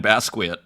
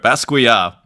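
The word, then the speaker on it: Basquiat: fixing my pronunciation what what I was calling basquet maybe that's a North American pronunciation there but basua you know famously of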